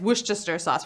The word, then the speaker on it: Worcestershire: is sad it's pretty it's spelled worse Esther Shire but it's not spell it's not pronounced that way it's woosh Chester sauce we gotta move on